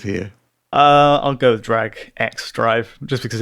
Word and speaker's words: Drag x Drive: itself, we have uh Is it Drag X Drive? Is that the correct correct pronunciation there, um Tom? some people are calling it Drag and Drive, uh which yeah, but I think you can be forgiven for either, really.